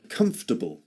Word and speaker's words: comfortable: It seems to it has four syllables in in spelling, but actually it's pronounced in three syllables only.